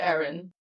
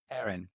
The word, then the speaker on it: Arin: Oh, I pronounce it Aaron. Aarin.